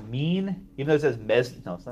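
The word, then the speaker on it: mesne: up does that mean yeah it's pronounced mean you know this miss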